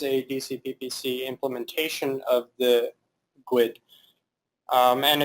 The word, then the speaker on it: GUID: GUID or GUID, pronounced by a lot of tech people as GUID, but fallback pronunciation is GUID. No one will be confused if you say that.